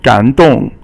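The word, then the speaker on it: 感动: 感 is third tone, and then 动 is fourth tone. 感动感动给我感动 or it made me moved, right?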